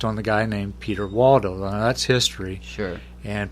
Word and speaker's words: Waldo: Peter of the Valley, or how they pronounced it over there, Valdo. Yeah. Peter Waldo.